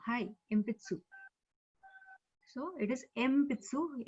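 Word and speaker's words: 鉛筆: So it is Empitsu. Even if you write in Romaji ENPITSU, so it will not be Enpitsu. It will be Empitsu.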